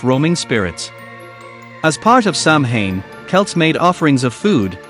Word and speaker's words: Samhain: The origins of Halloween can be traced back to the ancient Celtic festival of Samhain, pronounced Samhain, celebrated over 2,000 years ago in what is now Ireland, the United Kingdom, and northern France.